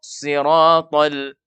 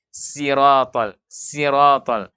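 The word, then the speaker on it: صراط: Tapi kita baca dengan tidak terangkat pangkal lidah sehingga huruf sod tidak tebal sehingga bacanya siratal. Itu terbaca tipis. Berarti bukan huruf sod, yang kita baca adalah huruf sin. Iya, maka inilah salah satu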